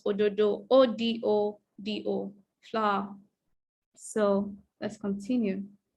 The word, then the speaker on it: ododo: The flower in the language is spelled ododo, O-D-O-D-O, flower.